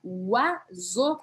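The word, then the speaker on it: oiseaux: A gente não viu que essa palavra, a gente pronuncia uazo. Vou escrever aqui para vocês. Eu escreveria assim em português. Uazo. Uazo. Uazo, que significa pássaro. Uazo. Eu escrevo com O-I-S-E-A-U-X. Tem 7 letras, mas eu pronuncio 2 sílabas.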